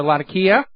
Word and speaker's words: Latakia: And the Israeli F-15s were invading Syrian airspace over Latakia. And yes, I finally got the pronunciation correct on that.